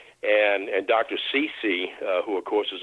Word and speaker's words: Ceci: Stephen Cece, that's spelled CECI, but pronounced like Whitney Houston's mother, Cece. And and Dr. Cece, uh, who of course